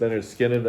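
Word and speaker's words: Lynyrd Skynyrd: This is Leonard Skinner. Their debut album, pronounced Leonard Skinner, and their third album, Nothing Fancy.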